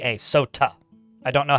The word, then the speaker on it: sot: So I did not say soda. I said sot. I mean, that would be very fizzy if that was the case.